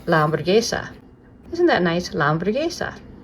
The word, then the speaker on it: hamburguesa: You can just say la hamburguesa. You've probably practiced it a few times with me. And this means that, la hamburguesa. If I flip it over, oh my goodness, well, the H is silent, that's really long.